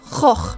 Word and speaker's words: Gogh: Van Gogh, I mean, that's not how his name is actually pronounced. Because I'm Norwegian, I always pronounce it Van Gogh. But I know that the actual Dutch pronunciation is more like Gogh, right?